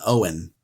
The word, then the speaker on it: Eoin: It's an old Irish name, Eoin, Owen. The E is silent.